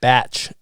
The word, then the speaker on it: bach: It's actually pronounced batch. B-A-T. Oh, batch. Yeah, a batch is like a cabin, like a He's- beach cabin.